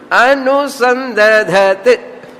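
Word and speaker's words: अनुसन्दधत्: Romba difficult pronunciation for Tamil speaking people. Yen sonnanuma, the ta tha da dha mood da ore idu varadu, ta dha and da. First da, then dha, then ta. Normal people ki pronunciation pandrathu kashtam. Tamil speaking people ki innum kashtam. Da dha t, da dha t.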